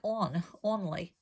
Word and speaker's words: only: It looks like only, but it's not. And remember the Y here says E because it's the end of a 2-syllable word, on or only.